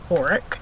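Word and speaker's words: orach: really nice grilled auric you've never heard of oreck or orange as some people pronounce it um i don't know what's right but i've heard botanists say it as auric so that's what i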